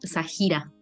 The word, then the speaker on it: Zahira: Que mi nombre es Sajira. Ay, Perdón, perdóname, ¿eh? No, no, no, tranqui. Lo tengo que aclarar siempre porque es Zahira, como mala interpretación de la pronunciación.